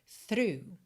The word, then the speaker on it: through: podcast t h r o u g h through through all of my life of também eu